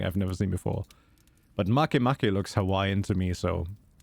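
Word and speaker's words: Makemake: said it right yeah it's clearly not make make it's it's obviously Mak Mak I mean come on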